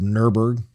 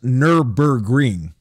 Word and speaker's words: Nürburgring: Of Nürburgring.